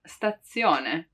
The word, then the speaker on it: stazione: So when we pronounce actually the letter Z, it's often heard as a double one, like in stazione, stazione. It really seems like there are two Z, right? Stazione. But the truth is, spelling-wise, it's just one.